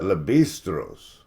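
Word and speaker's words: Lévi-Strauss: they familiar with distress so this is a Le bistros spelled like the blue jeans see like it makes me want to say leave like Levi straws yeah like you want to say Levi Strauss but um you got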